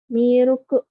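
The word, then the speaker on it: ミルク: Dari milk ya, karena di bahasa Jepang itu nggak ada L, jadinya miruku.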